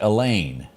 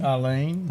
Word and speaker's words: Eileen: I think you pronounce that Elaine was her name. Is that how you pronounce it? Eileen? Eileen? Yeah.